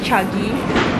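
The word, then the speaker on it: Chagee: am a sucker for chagi or chagi chagi chagi okay that's the right pronunciation say it's chagi and I ordered white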